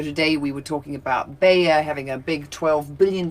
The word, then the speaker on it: Bayer: You pronounce it Baya, and Yeah. I would say bear. Yeah, I would Yes, say, yeah, because I just in case say people- ERs as an A. So Bayer, Bayer, and then you call it Bear.